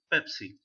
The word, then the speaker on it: Pepsi: you the English language, he will say Bebsi, Bebsi. But very few who graduated from America or other countries who took an English language course, they are able to pronounce it very correctly, say Pepsi.